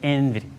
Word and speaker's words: NVIDIA: But he's not NVIDIA bearish.